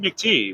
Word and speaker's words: McTighe: We've yet to hear Pete McTighe speak. Right. I think it's actually Pete McTee. We've been pronouncing his name wrong, because that's what McTee. Pete McTee. You can tell. You know it because it rhymes.